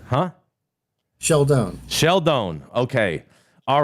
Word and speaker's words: Scialdone: SCI is sh, and then E is silent, right? Like Capone and Stallone, but in Italian it's Scialdone.